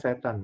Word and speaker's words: cetane: Ya, cetane, bacanya setan kan.